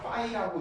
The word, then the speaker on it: phi: 그래서 얘는 읽는 방법이 PHI에서 파이라고 읽어요.